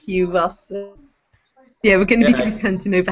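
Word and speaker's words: Culross: l r o so we were calling it K Ross but apparently it's Q Ross yeah we're gonna beting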